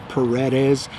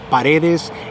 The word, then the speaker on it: Paredes: it's uh well okay in english i guess some people will pronounce it as paredes it's actually paredes and the direct translation